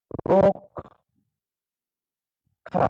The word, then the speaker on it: রক্ষা: যখন লিখবো লিখছি রক্ষা কিন্তু উচ্চারণটা কেমন হয় দেখা যাক রক্ষা নি এই যে যে